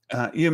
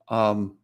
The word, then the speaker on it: Ewan: I saw some interviews, and Ian McGregor did, and Ewan McGregor. Always say it IAN, Ian, but it's EW, right? Ewan McGregor. I always pronounce it wrong, but that being the